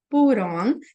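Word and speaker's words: put on: deixar essa ligação fixa pur on e a gente vai substituir esse T por um R então vai ficar assim ó pu Ron pur on pur on e o que que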